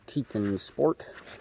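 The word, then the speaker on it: Teton Sport: hiking pack it's a i believe it's pronounced teeton sport and it's the scout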